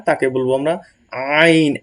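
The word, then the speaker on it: عين: না তাকে বলবো আমরা আইন একদম হলকের শেষখান থেকে আইন আইন আইন আইন এবং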